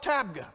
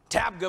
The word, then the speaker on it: Tabgha: We went to a place called Tabgha. Tabgha messed me up, because Tabgha is a place.